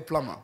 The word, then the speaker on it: plumber: good morning do you the bee is silent you swallow it's a plumber all of these days